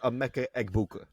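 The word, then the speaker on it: Emeka Egbuka: That I finally got to pronounce it right. So, big shout out to Amecha Eggbuka.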